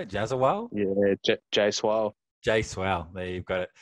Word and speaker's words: Jaiswal: Jaswal?